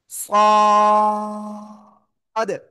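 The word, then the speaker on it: صاد: ওই জিহ্বার আগা, সামনের নিচে দুই দাঁতের পেট ও আগের সাথে লাগাবেন, লাগিয়ে একটু মোটা আওয়াজে উচ্চারণ হবে। কেমন? মোটা আওয়াজে উচ্চারণ করতে হবে। সাদ।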